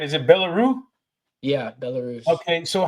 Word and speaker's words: Belarus: You were born in and let me know if I'm pronouncing it right. Is it Belarus? Yeah, Belarus.